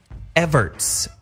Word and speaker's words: Everett: I want to pronounce his name correctly. Everts, right?